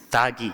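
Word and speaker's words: त्यागी: See, in Bengali pronunciation, Tyagi means Tagi.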